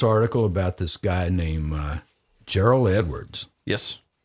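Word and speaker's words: Jeriel: about this guy named Gerald Edwards yes I think that's the way you pronounce it je r IE L Edwards this is a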